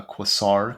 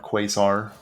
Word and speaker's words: Quasar: um could be uh Quasar quazar Rogue recently learned how to pronounce that word thanks to YouTube comments I appreciate it made a whole 30 minute video about quar Rogue it turns I said it wrong every single time happens the best of